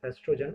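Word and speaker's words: oestrogen: It is known as estrogen. O is silent there.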